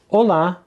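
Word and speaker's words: Olá: Now, another way of saying hello is hola. Emphasis on the second syllable. Hola. It's important here not to confuse it with the Spanish hola, which has its emphasis on the first syllable.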